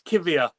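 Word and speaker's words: Kiwior: I can pronounce it. It's Kivia.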